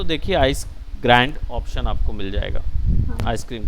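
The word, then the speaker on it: Grande: अब इसका नाम है आइसक्रीम ग्रांडे, या ice cream ग्रैंड, sorry ग्रांडे generally Spanish term हो जाता है, तो ये आइसक्रीम ग्रैंड है, ई जो है वो साइलेंट है।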